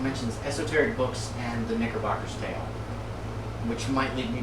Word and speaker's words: Knickerbocker: And Knickerbocker is not spelled with a K. Oh, it's not? No. I thought that was a misspelling. No, it's actually spelled Knickerbocker like nickel, Knickerbocker.